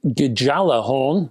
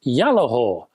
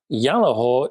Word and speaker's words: Gjallarhorn: Now, it's not the GJALLARHORN. Well, you can call it that if you want to, but that's not the intention. I believe this amplifier is pronounced Gjallahor. It is a Norse word, which is a common